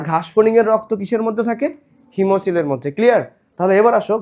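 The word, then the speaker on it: hemocoel: হিমো COEL, হিমোসিল। তাহলে বলো এর উচ্চারণ কি হবে?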